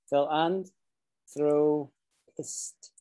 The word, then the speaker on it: philanthropist: like generous people exactly so the word that angie just used there was fill and throw fist like that and there's an extra